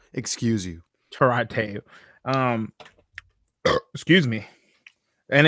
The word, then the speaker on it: El Torito: El Torito, and it's pronounced Torito. Excuse you. Torito.